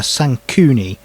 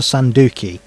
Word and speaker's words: Sankuni: Throughout this interview, I foolishly managed to mispronounce the monster's name. It's called a Sankuni, not a Sanduki.